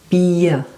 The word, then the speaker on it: Bier: Here we have a combination of two letters, I and E. You say I and E. So you have to be careful with these two letters. So if you have the letter, in German I pronounce it now, I, E, then it means you have a long I, beer.